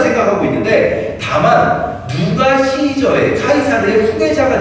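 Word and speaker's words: Caesar: 그래서 로마가 이 공화정을 취하고 있지만 백성들 마음속에 황제를 기다리는 마음이 막 등장할 때 그때 등장한 황제 후보가 카이사르 혹은 시저, 영어식 발음으로 시저라고 있는 율리우스 카이사르라는 사람이 등장을 해요.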